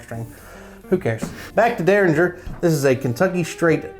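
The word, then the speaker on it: Rabbit Hole Derringer: i can dig on that starting with rabbit hole deranger i said it fancy like it's actually pronounced derringer i got it on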